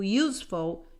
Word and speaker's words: useful: a vowel here but the reason you use a it's because this vowel you sounds you so every time you have a you that sounds you this one sounds like ugly but this one sounds you useful you need to use